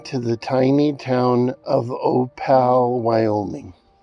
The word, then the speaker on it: Opal: It is pronounced Opal because that is the way the train conductor pronounced it. As the train would enter the small town, the conductor would say, "Next stop, Opal."